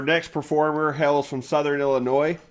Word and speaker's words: Illinois: performer hails from southern illinois notice i did not pronounce the s yes and is a